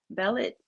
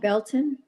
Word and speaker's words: Belton: the with the um this the the last case with the Cyrus Bellet if I'm saying it right. Cyrus Carmarmac Belton Belton Cyrus Belton even with that case